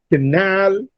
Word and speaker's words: canal: Similarly, in believe, canal, suggest. Now these words receive a stress on their second syllable. Leave is stressed in canal, nal is stressed in suggest, jest is stressed.